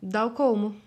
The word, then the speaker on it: Dal Colmo: E aqui você é Dal Como, ou não? Dal Colmo.